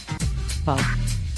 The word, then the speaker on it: Bowe: Now, how do you pronounce his name? Bo.